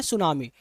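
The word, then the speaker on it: tsunami: तो देखो आपको पहले सुनामी पढ़ना सीखो। सुनामी में क्या होता है? टी आपका होता है वो साइलेंट होता है। ठीक है? इसलिए इसको बोलते हैं सुनामी।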